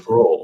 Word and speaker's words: Sproul: It's Sproul, like roll. Sproul. I know I say it wrong all the time, and I've heard it said Sproul, and I know better, but. It looks like Sproul, though. Everybody pronounces it Sproul, so.